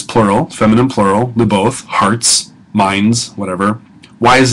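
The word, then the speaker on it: lībbôt: it's not in a it's not Liv oath it's Li both okay is the way that we'll pronounce that so this is a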